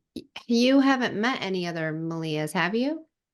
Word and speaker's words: Melia: And I'm like, Malia. And they're like, oh, okay, Malia. And I'm like, yeah, yeah, that's it. Yeah. Right? Think of like Melissa, only without the S's.